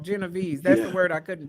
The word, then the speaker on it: Genovese: That's what it's called, Genovese. That's the word I couldn't pronounce.